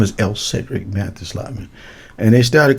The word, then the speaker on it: Elcferdick: Oh, the F is silent.